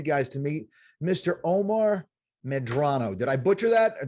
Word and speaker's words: Omar Medrano: Omar Medrano.